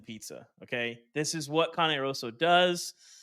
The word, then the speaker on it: Cane Rosso: our colleague, went to, I pronounce it Cane Rosso, the pizza place. Don't say that out loud in Dallas. It's Cane Rosso, Chris. Cane Rosso.